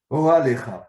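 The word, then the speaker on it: אהלך: D'ailleurs, j'ai une question de grammaire, on prononce Aholecha ou Orolecha? Ohalecha, Ohalecha. Ohalecha, d'accord, donc j'avais là, merci, du coup c'est plus pratique.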